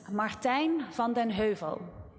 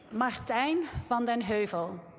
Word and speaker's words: Martijn van den Heuvel: Um, so let me help you with the correct pronunciation. So, it's Martin Vondenhu. So, listen carefully. I'll repeat it for you. Martine Fonden Hu.